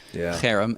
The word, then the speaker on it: herem: So that's, if you want to get the guttural harem accent on the first syllable.